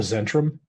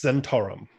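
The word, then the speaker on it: Zhentarim: I call it the Zentrum because that's just how I've read it in books, and I probably mispronounce it all the time. Is it actually pronounced Zentarum? It's officially it's Zentarum.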